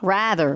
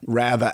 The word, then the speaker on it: Rather: Rather. In Australia, we say Rather. But if it's his name, so he would say Rather. Americans pronounce it Rather.